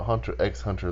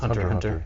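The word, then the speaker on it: Hunter × Hunter: anime lovers will uh it's not Hunter x Hunter the x is silent I was been previously corrected on this so it's just Hunter Hunter yeah Hunter Hunter cuz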